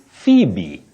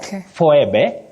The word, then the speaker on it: Phoebe: you can remember that we also have the name Phoebe Phoebe not fbe not F and all that and we should also